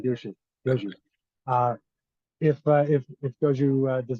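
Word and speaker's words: Gushue: Um, and so it'll be interesting to see if Guju, and I'm still getting used to that pronouncer, by the way, for his last name, Guju. I'll never get I it. keep saying Guju.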